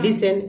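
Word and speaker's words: listen: फसन थोड़ा सा बता जैसे लिसन को देखिए आप यहां पर लिस टी साइलेंट है ई एस के साथ आ गया तो लिसन उसी तरह एफ ए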